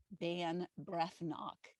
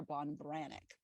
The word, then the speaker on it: Ban Breathnach: first line of her website but it's it's it's spelled sarah ban breath knock and that's how i've pronounced it when i've mentioned it before but it's bonn sarah bon branic okay so she is amazing and what she